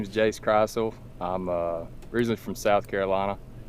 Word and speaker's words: Krisle: No, it's actually Krisle.